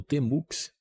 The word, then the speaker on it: Tmux: Aqui Márcio Bezerra, analista de sistemas, e hoje nós vamos conhecer uma ferramenta incrível, o Tmux, eu pronuncio dessa maneira, que é bastante utilizado